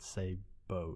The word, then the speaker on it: sabot: great 12-gauge shooting this of a said sabot Sabo Sabo there we go on a previous podcast